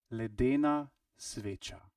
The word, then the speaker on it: Ledena sveča: Ledena sveča.